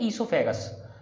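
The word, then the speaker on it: oesophagus: तो ये जो ईसोफेगस है, इसमें ये वर्ड जो है इसे पढ़ते हैं ईसोफेगस, वो इसमें नहीं पढ़ा जाता, वो साइलेंट है, इसे क्या पढ़ेंगे ईसोफेगस।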